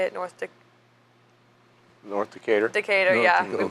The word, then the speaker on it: Decatur: North Decatur.